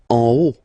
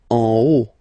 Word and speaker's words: en haut: En haut. En haut. Okay, final T not pronounced, and then this H as previously, you don't pronounce it, so this is haut.